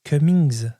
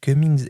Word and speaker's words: Cummings: Il y a des travaux, je crois que c'est Cumings, ça se prononce comme ça, Cummings et ses collègues qui